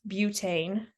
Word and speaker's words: butane: Now this time we have 4 carbons, so it's bute or but it's pronounced butane.